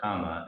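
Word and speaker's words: kamma: talking about karma is, or kama in the Pali pronunciation, is essentially this cycle.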